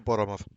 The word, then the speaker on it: Boromov: Natasha Boromov. Natasha Wadanoff? Boromov. Boromov. Natasha Russian name. Gotcha. Must I spell it for you?